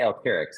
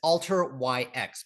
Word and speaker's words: Alteryx: the big big news, have I been saying their name wrong for like a decade? It's I say Alurix. Is it Alix? Is that how you say it? I've heard both. Uh including from Dean Stalker, their founder. Uh you know, Alter is the uh it's alter YX because they have this geospatial background.